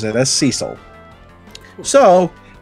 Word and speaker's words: Cecil: edition pronounces it as cecil so it's whatever the hell you want it to be apparently well i'd always say cecil because sounds like it would be french i mean hello my